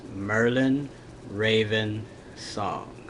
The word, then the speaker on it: Merlin Raven Song: problems pronouncing my name my name is pronounce Merlin Raven song so it's actually it's three words of Merlin then Raven and then song so it's three and